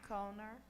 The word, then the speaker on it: Kohner: you thank you kohner called in hello no one ever gets it right so don't get my name wrong uh it's like Conan O'Brien but still unnecessarily complicated uh I'm here tonight